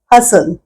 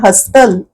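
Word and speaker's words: hustle: English मध्ये म्हणतात हसल आता या हसल मध्ये सुद्धा आहे पण टीटीचा उच्चार हस्तल असा नाही करत चा उच्चार ट तो ट हा उच्चारच या शब्दात होत नाही आणि म्हणून हे अक्षर आहे सायलेंट नो नो नो म्हणजे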